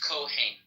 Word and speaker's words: Kohen: Yeah, in Hebrew it's Kohen.